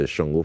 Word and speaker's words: Shango: the pronunciation wrong but the thing with um the Aruba language is a lot of the words have different intonations and letters so what is going to cause is different pronunciation sometimes and writing it in English doesn't always convey that ination so that that pronunciation is understandable but a shungo festival